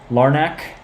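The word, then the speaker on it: Larnach: All right, so now here's Larnack. That's what we're going with. It's a hard C. Is that what we're going with here? I'll have to try to break my habit of saying it like a C. You know, the ch sound.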